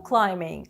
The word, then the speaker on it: climbing: Rope climbing – лазіння по канату. Зверніть увагу на слово climbing від дієслова to climb. Літера B не читається.